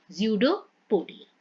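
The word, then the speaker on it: pseudopodia: इसमें P silent है, ज़्यूडोपोडिया।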